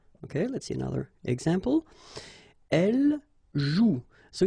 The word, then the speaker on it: joue: if you look carefully, you've got the combination of the vowel O and U, and together, you know that they produce the sound OU, okay? And it's exactly the same rule, so you've got this after, but then clearly you don't pronounce it.